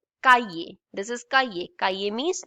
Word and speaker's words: cahier: How do we pronounce I? E. Cahier.